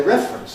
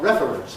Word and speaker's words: reference: I think I will say reference not reference but I know other people say that.